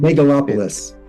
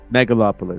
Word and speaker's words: Megalopolis: How do you pronounce it again? I'm gonna butcher it if I say it. Megalopolis. Megalopolis.